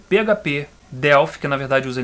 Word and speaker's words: Delphi: E ele usava essa linguagem chamada Object Pascal, mas popularmente era conhecida como Delphi, sendo que o nome correto, a pronúncia correta, é Delphi.